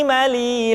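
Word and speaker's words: م: Lu, lallani, lalna, minal, mulni, mali, lallani, la. Selanjutnya huruf ma diucapkan dengan cara merapatkan dua bibir.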